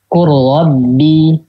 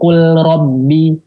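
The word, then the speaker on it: قُلْ رَبِّ: Qurrabbi. Nah, langsung ke ro. Qurrabbi. Enggak kul robbi. Enggak, langsung ya.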